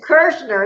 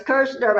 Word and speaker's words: Kirschner: I'll let her pronounce that because I don't want to butcher it. To the show. It's Kirschner. It's Kirschner.